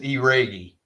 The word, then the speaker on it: Yragui: And again, your email address is is it Yragui? I've been pronouncing it wrong, so I'm sure that if you were in Spain, it's Yragui. Yragui. Okay. It's Basque. It's so Basque. Okay. We pronounce it Yragui.